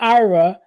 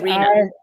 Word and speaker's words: Iryna: I want to say Ira. It's not Ira. It's Iryna. Iryna. Mhm.